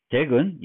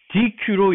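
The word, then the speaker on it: deque: 근데 DQ로 읽지 않고 덱이라고 읽습니다.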